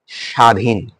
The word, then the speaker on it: স্বাধীন: এবার দেখো স্বাধীন, এবার কি? স্বাধীন, দন্তেশ্বরের সাথে ব ফলা রয়েছে সেই কারণে এটা উচ্চারিত হয়নি, রাইট?